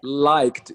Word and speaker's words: liked: like no you remove don't pronounce the e just like just like link the K and the D make them like one like like yeah well